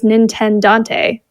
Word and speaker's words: Nintendant: But we're talking Mario Kart because your name on TikTok is Nintendant. Is that pronounced right? Yeah, you hit the nail on the head there. Perfect.